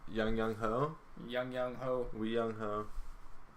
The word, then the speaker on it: Aguayo: Young Wei or Young Ho, Young Ho.